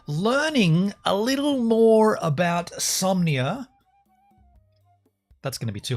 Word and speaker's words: Somnia: in the deepness of insomnia somnia I'm saying it right somnia right it's spelled somnia look it's spelled somnia yeah the dream computer somnia so not insomnia but somnia okay well I'm not